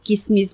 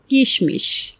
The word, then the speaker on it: কিসমিস: অনেকে এটিকে কিসমিস বলছেন আবার অনেকে বলছেন কিসমিস। আমি যদিও ব্যক্তিগতভাবে কিসমিস বলাটাই পছন্দ করি। আর দুটোর উচ্চারণই কিন্তু সঠিক। বাংলা একাডেমী বলছে কিসমিস এবং কিসমিস দুটোই সঠিক উচ্চারণ।